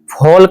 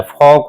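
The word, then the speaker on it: folk: फोल्क नहीं होता है। फोक होता है। एल साइलेंट होगा क्योंकि के से पहले यहां देख सकते हैं के से पहले।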